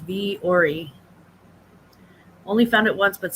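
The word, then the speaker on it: Vuori: have to take a look at it it's pronounced V Ori only found it once but sold it to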